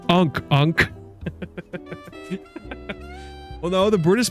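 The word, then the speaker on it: ankh: I picked up an ank. I told you. It's ank. Well, no. The British pronunci the British pronunciation is is ank.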